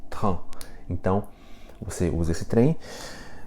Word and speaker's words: train: T-R-A-I-N, pronuncia-se train. Então, você usa esse trem, esse train, e coloca um vagão aqui na frente também, né? E um vagão atrás. Então fica un train de, essa expressão.